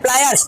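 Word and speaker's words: pliers: अब भाई प्लास के में तुम प्लास, बेटा प्लास नहीं होता, वो होता है प्लायर्स, क्या होता है वो, ठीक है।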